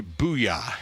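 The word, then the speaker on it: Buja: the name of Henry Booyah. And if you're an old ESPN fan and love Stuart Scott, then that's exactly how you say it. It's spelled B-U-J-A, but the starting pitcher, Booyah, tonight.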